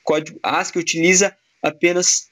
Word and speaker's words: ASCII: Finalizando aqui com o código ASCII II, ASCII, como é a pronúncia geralmente feita, ele representa o American Standard Code for Information Interchange.